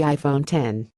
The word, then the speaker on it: iPhone X: to pronounce its name the X refers to the Roman numeral 10 not the letter of the alphabet and is supposed to